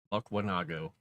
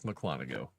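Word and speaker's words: Mukwonago: Buckwanago. It's Mclanago.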